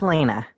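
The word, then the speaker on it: Laina: It's pronounced Lena.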